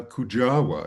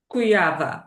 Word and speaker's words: Kujawa: So, it's a it's a Polish last name.